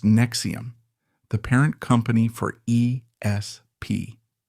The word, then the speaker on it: NXIVM: After his pyramid scheme collapsed, he reemerged with his co-founder, a therapist named Nancy Saltzman, and created NXIVM, pronounced Nexium, the parent company for ESP.